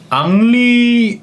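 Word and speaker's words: Henry: 인이고 프랑스어 이름이잖아요 근데 프랑스에서는 h 저 알파벳을 쉬라고 부르는데 우리가 h 쉬라고 부르는 것처럼 h 그 히읗 소리가 무음입니다 프랑스에서는 h 발음을 하지 않고요 그래서 en R 요것만 남겨 놓고 프랑스 시로 읽을 때 n이나 m 받침 소리로 작용할 때 전부 다 거의 이응으로 소리가나요 아 네 만 남았죠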